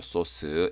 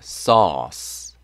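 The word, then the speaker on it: sauce: 때나 뭐 고기 위해 부려먹기 다고 소스 아시죠 소스 s 스 발음 납니다 au 보이시죠 o 발음 ce 가요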